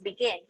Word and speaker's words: begin: So the example word there is begin. So it's actually stressed on the last or on the final syllable.